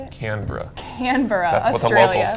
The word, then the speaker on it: Canberra: Canberra, That's what the Australia. locals say.